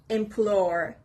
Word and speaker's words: implore: sixth word is implore implore the stress is on the letter P implore it means to